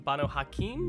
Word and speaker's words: Banu Haqim: be going over the bono hakeem hopefully i'm pronouncing that right at least that's how it is shown to be pronounced on no white wolf wikipedia so we're going